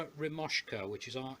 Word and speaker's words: Remoska: cooking on the boat is a thing called romesco which is our e M o s ka it's spelled and basically what that is is this